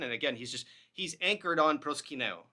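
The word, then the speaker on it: προσκυνέω: And again, he's anchored on proskyneo, right? I say proskino, right?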